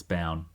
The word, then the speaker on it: Bown: I've definitely mispronounced Chloe's last name. It's Bown. We spent the whole time before this episode with you guys Michaela trying to Bowen.